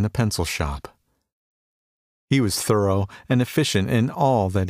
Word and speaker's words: Thoreau: they called him lazy thoreau he pronounced it thorough however was not wasting